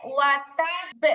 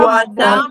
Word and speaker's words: وتب: তাহলে এখানে এখানে ওয়াতাব এরকম হবে, কলকলাও হবে, একটু শক্তও হবে। ওয়াতাব পড়েন তো সবাই। وتب ওয়াতাব وتب খেয়াল করি আপু, হ্যাঁ খেয়াল করি।